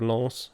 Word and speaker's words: Lens: Like the city of Lens in the northeast apparently pronounces the S at the end when it really shouldn't.